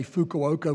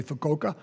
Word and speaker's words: Fukuoka: Incidentally, most of us say Fukuoka. When I'm over there, I say Fukuoka because that's the way they pronounce it.